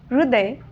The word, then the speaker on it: हृदय: कोणती आहेत तर पहा हृदय हृदय एकच आहे पण उच्चारणामध्ये फरक आहे आणि लिखाणामध्ये सुद्धा फरक आहे दुसरा आहे हृदय